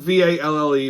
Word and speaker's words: Valle: It's spelled V-A-L-L-E, but I know it's pronounced Valle.